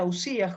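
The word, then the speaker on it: οὐσία: las substancias y en griego se pronuncia ausías jóvenes tras el concepto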